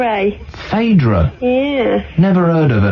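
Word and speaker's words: Phaedra: late centry hello hello hi is your name fedra it is fedra yeah spell it P h a e d r a fadra yeah never heard of a name like that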